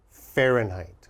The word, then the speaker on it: Fahrenheit: Oh, it's very difficult to spell, even for me. Fahrenheit, okay? We pronounce that Fahrenheit.